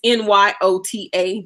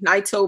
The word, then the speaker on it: Nyota: It's Nyota, Nyota magazine.